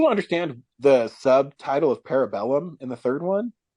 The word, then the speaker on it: Parabellum: I still don't understand the subtitle of Parabellum in the third one. I think it's actually pronounced Parabolum.